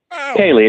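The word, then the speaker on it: céilí: C E I L I. What is that? Oh, Kaye. Kaylee. It's the uh it's a Celtic word for party. Okay. And uh and Kaylee dancing is just what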